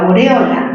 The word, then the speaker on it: aureola: La aureola, ¿mayor fuerza dónde? En O.